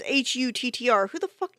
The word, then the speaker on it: Hutter: I swear I'm pronouncing it wrong. Cast of Nosferatu 1922. Because it's gonna bother me if I... Hutter. It's Huttr.